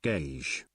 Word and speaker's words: Gage: Gage is pronounced gauge. Gauge, okay.